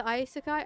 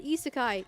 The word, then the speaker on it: isekai: Um, back to isekai. I'm sorry. Isseekai. Isseekai. I'm sorry.